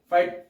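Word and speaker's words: phyte: फाइट, PHYT, फाइट, फाइट, फाइट pronounce होगा, FIGHT फाइट, वो नहीं, PHYT फाइट ऐसे ही प्रोनाउंस होने वाला है ये अदर वर्ड्स में।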